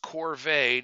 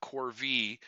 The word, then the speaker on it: corvée: That is pronounced corvée, not corvée.